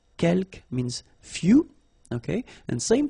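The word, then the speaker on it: quelques: now the second one uh kelk you don't pronounce the final s here keelk means few okay and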